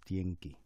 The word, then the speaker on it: Stientjie: The correct pronouncement is Stientjie.